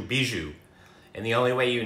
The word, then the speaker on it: bijou: So the plural of bijou is pronounced the same way as singular, bijou, bijou.